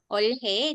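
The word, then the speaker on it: 올해: Olhe dibacanya kadang olhe, kadang ore. Ore.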